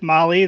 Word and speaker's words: Mahle: And for all the podcast listeners out there, Molly is spelled Mahle. Oh, yeah. So with Molly, their award this year is going to be for the toughest roadside repair.